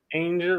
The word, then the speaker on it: Anger: Anger rhymes with danger.